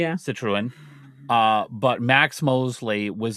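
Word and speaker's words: Citroën: Uh, and uh, Citroen, if I'm pronouncing that right. Citroen. Yeah, Citruan.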